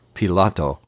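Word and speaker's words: Pilate: chapter Jesus was tried by pilot or Pilato as I pronounce his name and Herod before finally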